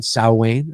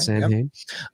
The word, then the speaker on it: Samhain: And yes, that is apparently the correct pronunciation. Samhain, apparently not Samhain.